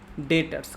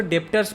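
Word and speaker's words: debtors: Cash cash received from डेटर्स। कई बच्चे इसको डेप्टर्स पढ़ते हैं। डेप्टर्स नहीं होता है बेटा। अंग्रेजी खराब मत कर देना प्लीज। डेप्टर बोलते हैं इसको। ठीक है ना? डेप्टर बी साइलेंट होता है।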